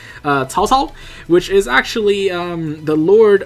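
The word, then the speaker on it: 曹操: names so for example I believe Taotao is in this and I don't know why I'm pronouncing it with an accent because I can actually say it properly tall tall which is actually the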